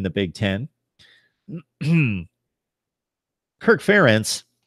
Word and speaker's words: Ferentz: accomplished under Ference Kirk Ferentz difficult name to say sometimes sometimes she's slide the the syllable emphasis anyway so I was